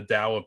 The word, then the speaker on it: Tao: too called the the dao poo that was spelled t-a-o-i or like taoism yeah yeah pronounce like a d but it's a t and um once in